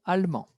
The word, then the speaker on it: allemands: Como sabemos que la pronunciación es la misma porque la DS es mudo, ils sont allemands.